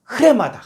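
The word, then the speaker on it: ῥῆμα: 돼 있는데이 레마가 아니라 강순 표가로 앞에 있을 때는 앞에 히 발음을 해주게 돼 있어요 그래서 요거는 레마가 아니라 레마다 레마 레마 이거 아주 헬라의 기초적인 법이거든요 그래서로 위에 강승표 붙어 있으면 앞에 히 발음을 해 줘서 레마 이렇게 읽어 줘야 돼요 그래서 요거는 사전도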